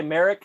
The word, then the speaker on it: Merrick: Hey, I will say Merrick rhymes with Garrick, so you know, I'm a fan.